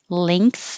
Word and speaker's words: length: The ng I underlined because it's a single ng sound. The back of the tongue goes very high, ing, like when you say ring, and the tongue blocks the air to the mouth and makes it go through the nose.